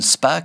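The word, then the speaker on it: Spaak: de résistance protestante celui en particulier de Suzanne Spa une belge communiste. On si vous cherchez ça s'écrit SP2.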